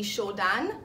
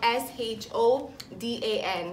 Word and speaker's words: Shodan: So I think my favorite sushi restaurant would have to be Shodan, and it's downtown, so it's spelled S-H-O-D-A-N, Shodan.